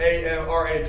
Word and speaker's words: AMRAP: combo so our amrap means that's short for am r ap we pronounce that amrap as many rounds as possible